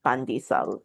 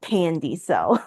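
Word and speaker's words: pandesal: Um but correct pronunciation is pandisal, not pandisel. Like do not Americanize.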